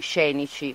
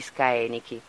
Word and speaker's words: Scaenici: Diciamo che normalmente prima pronunciavamo pure noi scenici, perché l'avevamo letto, insomma, come cosa, e invece, siccome andando avanti usiamo la pronuncia restituta, che è quella più antica del latino, e quindi si pronuncia in questo modo, Ludi Scaenici.